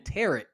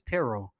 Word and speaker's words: tarot: I've been pronouncing the T at the at the end of the word. I've been saying tarot. No one ever bothered to correct me. I've been saying tarot. They were saying tarot the whole movie. I'm like, bro, I've been saying tarot this whole time. Nobody said anything. So yeah, I've been pronouncing it wrong. So it's tarot.